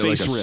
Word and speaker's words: FASERIP: game that exists called phase rip this ain't it this is what that is basically so you're pronouncing you're pronouncing the s like a z uh which is a